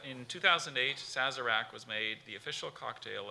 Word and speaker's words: Sazerac: nice it's in 2008 Sazerac was made the official cocktail of New Orleans is there an alternate pronunciation just the one Sazerac okay SAS a our